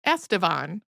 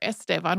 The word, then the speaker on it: Estevan: That, though, is a diminutive form of Estevan, which English speakers usually say more like Estevan.